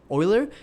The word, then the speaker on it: Euler: have a better experience with like Euler angles Euler yeah I just recently discovered that's how you pronounce it or other angles so I was